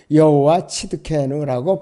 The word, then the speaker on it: 여호와 치드케누: 영어로는 The Lord our righteousness인데 영어로는 이 히브리어는 여호와 치드케누라고 발음을 합니다.